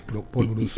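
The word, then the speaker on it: Paul Brousse: mucho tipo de acento hay veces que no se pronuncia al final depende mucho en este caso es Paul Bruce y depende de que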